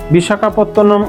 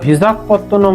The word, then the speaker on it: বিশাখাপত্তনম: ইংরেজরা বিশাখাপত্তনম উচ্চারণ করতে পারতো না বলে তারা ভিজাখপত্তনম উচ্চারণ করতো যার থেকে ভাইজাক কথাটি এসেছে। ট্রেন বিশাখাপত্তনম পৌঁছাতে পৌঁছাতে বিকালবেলা